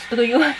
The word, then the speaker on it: струю: Правильно говорить, струю.